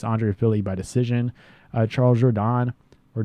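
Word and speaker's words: Jourdain: a win against Andre Philly by decision Charles Jordan or jordane is how how you say his name now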